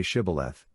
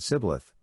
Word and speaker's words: Shibboleth: If he said, No, then they said to him, Now say Shibboleth, and he said Sibboleth, for he couldn't manage to pronounce it correctly.